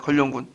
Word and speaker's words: 견룡: 견룡. 그러니까 견룡. 그래서 걸룡이라고 하죠. 건룡. 발음이 안 되는데 그 왕을 용이라고 하잖아요. 그 옆에 건룡이라고 하고 걸룡군이라고 해요. 걸룡군.